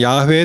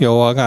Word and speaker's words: 야훼: 아마 이 잘은 모르지만 그래도 학자들이 연구해 보니까 여호와라는 단어의 원래 발음은 야훼에 더 가깝다. 여호와가 아니고.